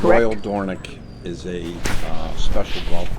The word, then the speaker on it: Dornoch: yes I do I need it D It's pronounced dornic roal dorick is a uh special golf course in Scotland